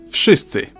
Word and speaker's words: wszyscy: This letter here is a clear vowel in Polish and makes the sound I, like in the word system.